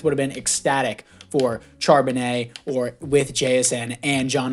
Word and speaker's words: Charbonnet: um jsn so that was a great pickup charbonnet or uh charbonnet my bad is how you pronounce it I think a lot of people